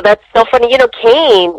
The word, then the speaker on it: Kane: You know, Kane, his name is actually pronounced Kane. I guess his dad had Hawaiian ties, and that's how he got the name Kane, K-A-N-E.